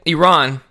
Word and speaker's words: Iran: of the ten sailors first of all Iran Iran sorry I know I actually learn how to